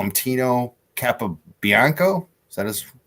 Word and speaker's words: Capobianco: They call him Tino Capobianco.